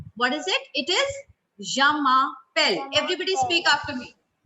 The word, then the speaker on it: je m'appelle: It is je m'appelle. Everybody speak after me. Jamapel.